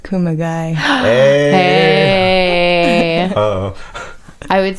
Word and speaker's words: Kumagai: Fly Yeah. rhymes with Kumagai.